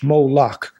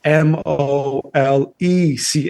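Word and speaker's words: Molech: Moolak. That's actually not how it's pronounced in the in the Old Testament in Hebrew. It's actually spelled M O L E C H which is important because what they were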